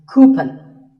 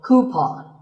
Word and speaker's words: coupon: A common incorrect pronunciation is coupon, but the second syllable should be pawn, so coupon.